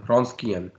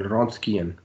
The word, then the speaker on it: Wronskian: दिया है ये है रॉस्कियन। को प्रोनाउंसिएशन जो है नाक से बोलना पड़ता है थोड़ा सा, तो वो प्रोनाउंसिएशन जो है वो एग्जैक्ट नहीं हो पाती मुझसे ना उसकी।